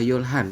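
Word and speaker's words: 열하나: Jadi untuk 11 kita membacanya adalah yol han.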